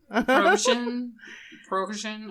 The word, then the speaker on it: Prigozhin: Prigozhin. I'm sorry. I can only do pierogies, okay? But it's spelled Yevgeny, first name.